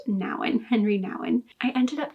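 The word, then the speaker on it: Nouwen: search for God by Henry Nan I was pronouncing his name Henry Newan or hre Newan in earlier videos and I have since learned that his name is pronounced Nan Henry Nan I ended up giving this four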